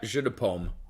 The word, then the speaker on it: Jeu de Paume: Jeu de Paume is an early version of this court and net game. François, was I pronouncing that correctly? Yeah, Jeu de Paume.